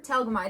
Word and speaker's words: Telgemeier: Telgemeier.